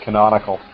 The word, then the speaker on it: canonical: Then the ending of the word is I-C-A-L. Okay. Canonical. Canonical. Okay, now I've got it. Right. Yeah, and it's pronounced canonical. So if you look up